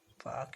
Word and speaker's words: Palk: पाक की कई बार क्वेश्चन पूछा गया है, मगर इसकी स्पेलिंग होती है PALK, पाक की खाड़ी।